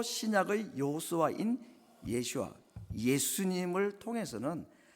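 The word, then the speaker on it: ישוע: 그러니까 예수님을, 예수라는 이름, 이건 이제 영어를 또 한글로 번역해서 그런데 예슈아가 이게 정확한 히브리식 발음입니다.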